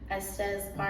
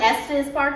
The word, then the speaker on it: Estes Park: the funny thing is he said he went to esta's park you know like estes park like i said it right however he said it